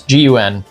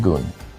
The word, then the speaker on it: Gun: It's Gun. I think because of transliteration, it's probably pronounced Gun.